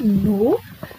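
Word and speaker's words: gnaw: Now children, one thing is in your mind, why ma'am is telling here no? The spelling is here G-N-O-W, but here the G is silent, so the pronunciation is no.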